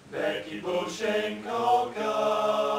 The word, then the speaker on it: Becky Beauchine Kulka: Becky Beauchine Kulka.